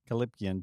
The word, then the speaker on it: callipygian: Starting off, bare buttock, and I meant to Google how to pronounce this word, so I'm just gonna first try get it right now. Calipgian. Calipgian. Callipygian.